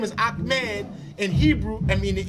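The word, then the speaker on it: Ahmad: m e d or I can spell it a h m a d those are only representations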